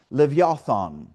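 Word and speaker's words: לִוְיָתָן: And it's transliterated from the Hebrew word that's pronounced levothon.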